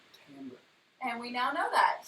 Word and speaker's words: timbre: so we always call it timbre because that's how it's spelled. Like, what is the timbre of your voice? It's pronounced timbre.